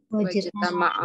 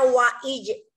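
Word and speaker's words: وَاجْتَمَعَ: Wajtama'a. Wajtama'a. Jangan dibaca wa'ij. Salah jadinya.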